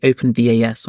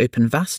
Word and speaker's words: OpenVAS: My favorite tool for this has to be OpenVAS, or Open Vass, depending on how you pronounce it.